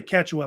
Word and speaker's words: Quechua: Really Quechua, I think is how they pronounce it, which was based